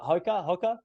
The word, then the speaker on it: Hoka: Hoka.